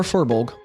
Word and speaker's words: firbolg: Both of you all are aware that this is a firbolg. Very uncommon. A what? A firbolg. Firbolg? Yeah, or furbolg, depending on how you pronounce it.